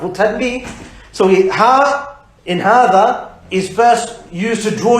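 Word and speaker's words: هٰذَا: And finally, hadha is pronounced hadha, as if there's an alif after the ha, but it's written without the ha. Okay? Written without the alif, sorry.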